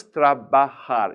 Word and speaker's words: trabajar: yo trabajo good now notice trabajar is 3 syllables I'm gonna give you a quick little syllable lesson in Spanish when a Spanish word has three syllables stress the middle one if there's no